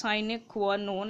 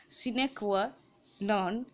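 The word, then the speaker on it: sine qua non: নন, আচ্ছা এই উচ্চারণটা সাইনে কোয়া নন এরকমও হয়, আবার সিনে কোয়া নন এরকম উচ্চারণও হয়, ঠিক আছে, এটা একটা ল্যাটিন টার্ম, বুঝতেই পারছো, কোটেশনের মধ্যে দেওয়া আছে, এরা তোমার ইংলিশ নয়, ল্যাটিন থেকে এসেছে।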